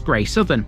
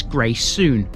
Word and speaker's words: Greysouthen: the screen right now this is one of those Villages that's pronounced differently if you're a local so the folk that live here this is gray soon until recently there were